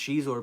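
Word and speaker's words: Xizor: some of the bits where um Shor it's pronounced Shor by the way not zor H Theory Shor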